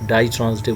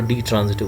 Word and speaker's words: ditransitive: Before starting that into passive voice, we need to put a glance on the definition of die transitive verbs. You can pronounce it both die or de transitive verb.